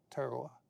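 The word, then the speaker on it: Tarawa: In November of 1943, the Battle of Terawa. Did I pronounce that correctly? Terowa.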